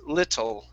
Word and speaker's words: little: an o sound okay so this word is pronounced little little okay one more time lit give me